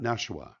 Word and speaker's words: Nashua: So, was it then after you left Nashua? Is it not Nashua, right? Is that how it's pronounced?